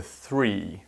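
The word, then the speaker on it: three: zero one two 3 remember with the 3 that it's the th sound that a lot of you find difficult and to make that sound you just have to put your tongue on your bottom teeth and rest it with a little bit of tension 3 4 5 6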